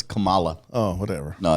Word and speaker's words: Kamala: It's Kamala. Oh, whatever. No, it's Kamala.